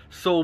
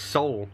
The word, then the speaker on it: Saul: yellow house I mean is it pronounced Saul I always pronounce his soul and then better call Saul came out and I was like I'm pretty sure it's meant to be sold so it rhymes because bear call soul makes no sense and this